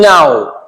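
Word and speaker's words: know: यहां पर इस के को उच्चारित नहीं किया जाएगा। यहां पर ये साइलेंट रखा जाएगा। जब हम इसे बोलेंगे तो आप इसका साउंड कैसे निकालेंगे? नऊ। नो के को अंदर ही रख लेना है और एन ओ डब्ल्यू को बोलना है नाउ नाउ नील कनील नहीं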